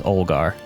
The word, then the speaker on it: Olgar: youngar y-o-n-g-a-r yongar and this kid's name is olgar o-l-g-a-r i had it as o-r-a-g olgar my